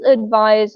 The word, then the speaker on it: advise: can use advise as a verb. There is a slight difference in the pronunciation Mm-hmm. between advice, which is very soft, and advise, which is, Mm-hmm. a harsher sound.